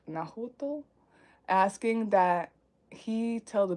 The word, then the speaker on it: Nahuatl: It's Nahuatl. Nahuatl, asking that he tell the bishop of her appearance and that a church be built in her honor.